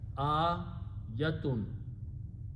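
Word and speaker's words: آيات: So the word becomes ayatun. Very clearly pronounced correctly. Don't stretch here. Ayatun. Stretch here.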